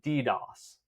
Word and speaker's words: DDoS: You could just say DDoS. That's how normally it's pronounced.